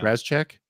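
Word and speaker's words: Rasczak: But then all of a sudden he turns into this after he has his first mission, and Ratchik, how do you say his name? Yeah. Razchek.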